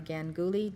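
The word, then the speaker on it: Ganguli: Mahabharata is spelled M-A-H-A, B-H-A-R-A-T-A. It's one word. Mahabharata. And this is translated by Ganguly, G-A-N-G-U-L-I.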